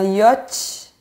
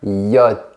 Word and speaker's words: yacht: Et on dit un yacht. Presque. Attention à la partie finale. On dit un yacht.